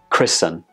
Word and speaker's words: christen: fasten hasten hasten and christen there is no touch sound in any of these words when we pronounce them the T in the spelling is completely silent so the general rule